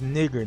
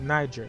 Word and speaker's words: niger: The pronunciation of it is nigger, not Niger. Nigger. It's a Latin word, nigger.